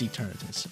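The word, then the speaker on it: Eternatus: up against a gargo knle team with uh eternus yeah that's eternus I didn't know if I was pronouncing it wrong for a second but uh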